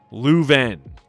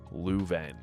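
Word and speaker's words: Leuven: We are then introduced to the king of Esperia, Lueven. I think that's how you say it. L E U V E N, Lueven.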